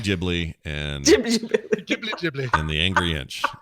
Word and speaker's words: Ghibli: about today from studio ghibli ghibli and the angry inch i will still never remember that it's a soft g i'll never remember it